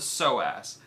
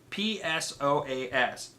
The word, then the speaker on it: psoas: flexors is called the so ass psoas the so ass right obviously the P is silent that's English it's [